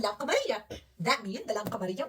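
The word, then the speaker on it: لام قمرية: Did you hear lam? Al. Yes. Al. Why? Because this call Laam Qamariya.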